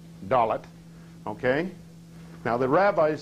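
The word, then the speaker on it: דלת: Okay, in the Hebrew, it's pronounced Dalet. Dalet.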